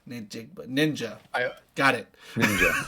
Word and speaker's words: Njigba: Ninjigba. Ninjigba.